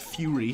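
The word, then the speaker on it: Furi: Like Fury, spelled like that.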